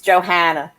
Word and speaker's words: Johanna: Is it Joanna or Johanna? I don't want to pronounce. It's Johanna.